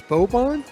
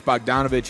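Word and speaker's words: Bogdanović: did I read that wrong is it it's bobon or is it Bogue Donovan oh Bo donovich oh I'm sorry yeah these pronunciations are weird yeah but yeah it's bogdanovic and Hayes and it was going to be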